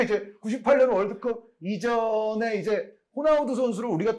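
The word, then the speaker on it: Ronaldo: 제 기억에도 그리고 이제 98이 되면은 이제 각 나라의 그 발음에 좀 맞춰 가야 된다 해서 호나우 도가 됐는데 그때는 두 가지는 안 했어요 그러다가 이제 2002 한일 월드컵 때부터는 호나우두가 됐죠 맞아요 그러니까 이게 처음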